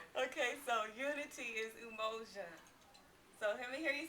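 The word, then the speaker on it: Umoja: And when I say unity, you say in Swahili um okay so unity is emojia. So hear me hear you say emoia.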